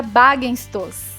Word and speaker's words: Baggestoss: Tudo bem, meu sobrenome se pronuncia Bagenstos.